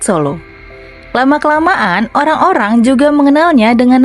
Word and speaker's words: Solo: Sala berasal dari bahasa Jawa asli, yang dalam pelafalan bahasa Jawa disebut Solo.